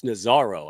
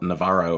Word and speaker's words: Nazzaro: And Nazzaro. I can get that done. You say it right. Most people say Navarro, or they put 2 R's and 1 Z, so you got it good.